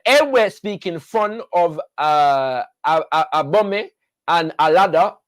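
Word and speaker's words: Allada: The Ewe-speaking Fon of Abome and Alada, sometimes pronounced Arada with the R, of Porto Novo, the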